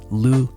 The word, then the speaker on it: lose: The vowel sound in these words is the same. The difference in pronunciation is not in the O's. The single and double O in this case, again, sound the same.